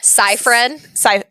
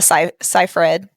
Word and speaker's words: Seyfried: Seyfried. Amanda Seyfried. Yeah. Seyfried. I said Seyfried. And I said Seyfried. So Yeah. and it was a combo. It was a combo. Oh, that's beautiful. Yeah, so Amanda Seyfried is going to play the wife, and I